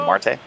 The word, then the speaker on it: Marte: is that how you say it is a Marte that's correct yeah I got